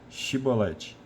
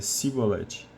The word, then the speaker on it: chibolete: dizia não lhe respondiam então diz chibolete ele dizia sibolete porque não conseguia pronunciar de outro modo então o agarravam e